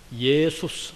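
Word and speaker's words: Ἰησοῦς: 영어로서는 지저스 이러잖아요. 그러나 헬라 말은 예수스 하는 것이 말이 맞습니다.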